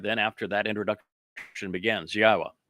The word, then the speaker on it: Yahweh: Then after that introduction begins, Yahwa, which is the proper pronunciation of God's one and only name as directed by his Torah teaching regarding our higher existence and our shalom restoration.